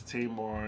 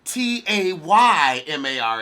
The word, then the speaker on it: Tamar: blasters I know is Tamar and Toni unfortunately Tamar Tamar Oh me there's no y in her name ta y ma r is Tamar ta ma are tah ma come on Tamar Tamar come